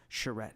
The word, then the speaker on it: charrette: about potentially a bit of a charrette, if I've pronounced that correctly. You did.